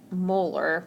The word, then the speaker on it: molar: So my answer here would be 5.5, and again, capital M, which is pronounced molar when we say that on here.